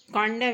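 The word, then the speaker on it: condemn: कॉन्डम यहाँ पर डी उच्चारण होगा, यहाँ एन साइलेंट होगा।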